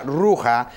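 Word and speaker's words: רוח: vientos viene de una expresión judía que que se pronuncia roja que significa espíritu ahora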